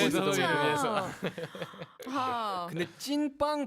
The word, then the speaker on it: 찐빵: 특히 찐빵은 이 더블이 2개 들어가가지고 맞아요. 좀 힘을 줘야 돼.